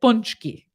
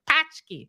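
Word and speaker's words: pączki: is not good but this word you have to agree this does not look like punchki looks like patch key or something like that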